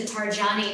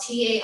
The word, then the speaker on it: Tarjani: And today, I want to encourage you, if you're willing, to come into Tarjani Mudra. And Tarjani, it's spelled Tarjani, Tarjani Mudra.